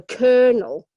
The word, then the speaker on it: colonel: very good at a kernel very difficult words it doesn't look anything like the way it's spelt Colonel we have brusque